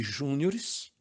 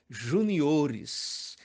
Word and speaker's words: juniores: Se você pronuncia campeonato de júniores, sinto informar que o certo é juniores, até porque não existe palavra acentuada antes da antepenúltima sílaba.